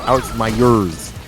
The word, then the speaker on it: Myers: Alex Myers. That's actually how you say his name. Alex Myers.